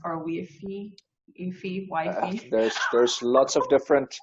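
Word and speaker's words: YFI: well no i've i've the community has decided it's wifey so i also call it wifey but when i originally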